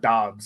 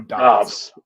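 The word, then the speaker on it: Doubs: It's spelled like Dubes, but I've heard Dobbs, so I'm going to go Dobbs. Yeah, we'll go with Dobbs.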